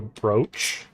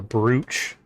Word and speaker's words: brooch: And we have, if you look right here on her um chest, we have a brooch or a brooch technically is how it's spelled um that we were given in the like first play through.